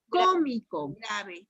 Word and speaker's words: Cómico: Cómico. Cómico. En la primera O. Primera O, última, penúltima, antepenúltima. Está en la antepenúltima, es Esdrújula.